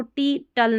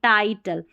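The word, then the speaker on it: title: वैसे ही इसको सी लेंट नहीं, साइलेंट, ऐसे इसको टी टल नहीं, टाइटल।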